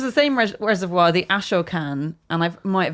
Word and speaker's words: Ashokan: Um and I don't know if this was the same res- reservoir, the Ashokan, and I've might have mispronounced that. Ashokan.